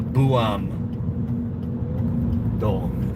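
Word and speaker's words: Buam-dong: But but this is like a village in the city kind of nestled on a mountain and it's called uh Buam Dong. And you spell that uh B U A M and then a little hyphen and then the D O N G for neighborhood.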